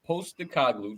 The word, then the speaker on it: Postecoglou: I think that Postecoglou, did I say his name right?